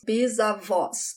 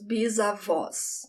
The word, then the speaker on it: bisavós: And the plural, my great-grandparents, meus bisavós, with the open sound, meus bisavós.